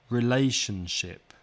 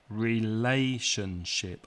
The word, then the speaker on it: relationship: example longer words like relationship relationship four syllables the second syllable is stressed so write a small